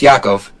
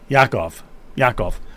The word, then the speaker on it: Yakov: I got to make sure I'm pronouncing it correct. It is Yakov, right? Pretty close, Yakov. Yakov.